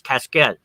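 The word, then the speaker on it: cassette: caskets they were we we call them caskets but the French pronunciation is cascet which is a small like a little trunk type thing.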